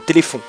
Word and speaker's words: téléfon: c'est que le téléphon qu'il faut bien prononcer et écrire téléphon avec un f c'est pas pH et on dit pas téléfion non plus même si c'est drôle et on n pas le Téléton même si on a rien contre les handicapés qui eux d'ailleurs peuvent prononcer téléon donc voilà donc c'est bien téléphond et pas Téléton même si c'est vrai